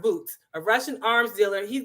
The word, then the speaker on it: Bout: basically has um victor boots his name is pronounced boots a russian arms dealer he's got 25 years